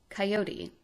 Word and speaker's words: coyote: Historical pronunciation accents all three syllables of the word. Coyote, often abbreviated orally into coyote, does well enough.